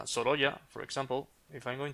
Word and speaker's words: Sorolla: you pronounce this guy as a Soloya?